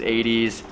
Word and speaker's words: Eytys: I thought it was pronounced Eytys because someone told me that was how it's spelled, but it is not. It is Eytys.